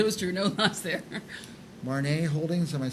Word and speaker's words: Marnee Holdings: Marnee Holdings, am I saying it right? Marnee Holdings.